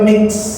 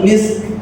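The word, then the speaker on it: مسك: khitamuhu mis eh misah jadi ada huruf kaf yang tersimpan tetapi diucapkan mis nah Jangan kebalik mix mi ya bukan mix tapi misk gitu ya wiz panjang likalatana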